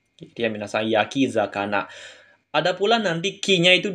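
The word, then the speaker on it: 焼き魚: ya minasang kanji membakar maka dia akan dibaca Yaki zana minasang Yaki zakana ada pula nanti k-nya itu dihilangin minasang kanji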